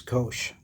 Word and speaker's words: Ghosh: And this is like Ghosh but with a H sound, so it's Ghosh.